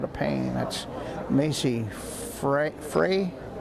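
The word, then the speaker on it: Frueh: a little bit of pain that's Macy fre Frey f r u e h is how her last name is pronounced looks like she's holding her knee so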